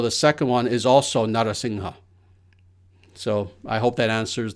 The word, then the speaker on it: Narasingha: So that's why I translate it in the first way, Narasingha, but both are pronounced the exact same way. So the second one is also Narasingha.